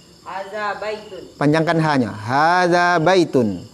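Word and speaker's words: هذا: Ya, cuma za-nya dilunakkan, Pak. Kalau jangan sampai jadi zai. Hadza miftahun. Ulangi. Hadza miftahun. Ya, za seketik lah itu, Pak ya. Kalau Pak tadi bacanya haza, itu salah, hurufnya zai jadi nyonya zal.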